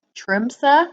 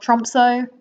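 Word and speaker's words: Tromsø: believe this is pronounced trump sir not tromso which i understand is a horrible english way of pronouncing it i really tried with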